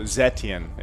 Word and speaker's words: Zetian: So Zetian is the correct pronunciation.